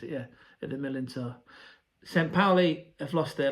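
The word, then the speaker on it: Millerntor: That is how you pronounce it, yeah, at the Millantor.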